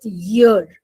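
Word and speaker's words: year: वी से इयर ईयर इट्स नॉट इयर इट सेट ईयर हम लोग इयर बोलते हैं तो ये हमारे कान होते हैं इ ए आर ईयर जो होता है ना हमारे कान होते हैं ना कान जिससे हम सुनते हैं राइट तो जब हम साल की बात करते हैं, ईयर की बात करते हैं। सो इट is wrong to से ईयर। इट इज ईयर ईयर ईयर।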